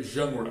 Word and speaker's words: genre: Então você pega a palavra gênero, você joga fora a última vogal, o, e coloca o E do meio no final. Então seria genre.